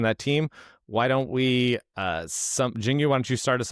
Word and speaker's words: Xinyu: So X pronounced as SH, so it's Xinyu.